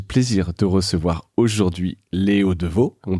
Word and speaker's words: Devaux: J'ai le plaisir de recevoir aujourd'hui Léo Deveau. On le prononce bien comme ça ?